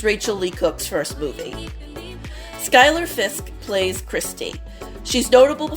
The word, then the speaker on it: Skyler: Lee Cook's first movie Skyler Fisk plays christe she's notable for being Spix's daughter I don't remember ever seeing her in anything else I pronounced her name as Schuler for the longest time